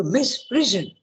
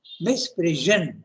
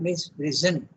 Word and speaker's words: misprision: To misprision, here he is using it as a verb, misprision. And yesterday we discussed it, now. You have to pronounce it as like a Z, okay? Not misprison.